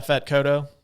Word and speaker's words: Yaphet Kotto: Yaphet Kotto, is that how you say his name? Yeah, Fat Kodo.